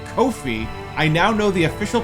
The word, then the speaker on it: Ko-fi: That's right, it's Ko-fi. I now know the official pronunciation.